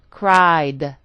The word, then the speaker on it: cried: examples cried walked chatted in the first example I produced just the the D sound cried in the second I